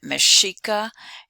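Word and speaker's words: Mexica: is given at the top and you can pronounce it tenochtitlan the people the aztec in that city uh their name mashika and the reason it's mashika that's based upon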